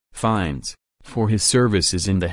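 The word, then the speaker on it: Fiennes: patent than 1447 for James vns pronounced fines for his services in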